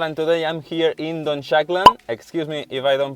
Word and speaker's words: Dunshaughlin: It's pronounced Dunshaughlin. Dunshaughlin.